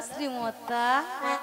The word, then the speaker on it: শ্রী: আরে মাসি, ওনার নাম ছিরি ছিরি নয়, হ্যাঁ। বলো শ্রী শ্রী। ও ছিড়ি ছিড়ি ছিড়ে ছিড়ে ছিড়ে ছিড়ে ছিড়ে ছিড়ে যেন সারে গামাপা হচ্ছে। আমি বলেছি শ্রী শ্রী, ঠিক করে উচ্চারণ করে বলো।